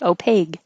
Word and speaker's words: opaque: depends and this one i learned that i had been pronouncing opaque with a g at the end my entire life opaque i don't know why